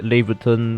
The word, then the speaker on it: Laevateinn: it is called leviathan it is spelled very weirdly some people like to say laverton but then for now for this video we're just going to pronounce this leviathan even though there's already